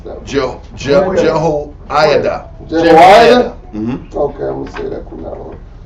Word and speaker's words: Jehoiada: How would you pronounce that? Jehoiada.